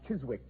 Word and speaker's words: Chiswick: Watson, the Chisik branch to be exact. Chisik. It was originally pronounced Chiswick, Watson, and it's still so spelled.